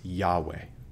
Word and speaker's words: Yahweh: There's no J sound in Hebrew. The letters making up the name of God, Yod, Hey, Vav, Hey, right? It's often translated, most often nowadays people would say it's probably pronounced Yahweh.